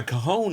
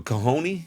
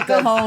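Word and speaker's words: cajón: A cajoni? Whatever they call it. Whatever they call it. No, not a cajoni. A I think it's cajon. spelled like that, but it's not.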